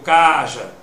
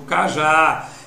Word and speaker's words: cajá: Eu digo cajá, ou eu digo caja? Eu digo cajá. Então a sílaba que pôde ser prolongada foi o já.